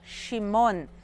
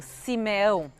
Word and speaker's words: Shimon: Outro dos filhos de Leia se chama Shimon, que significa aquele que escuta. Em português, a gente normalmente pronuncia como Simeão.